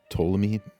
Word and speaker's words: Ptolemy: I believe the P is silent, so Ptolemy 1 Soter.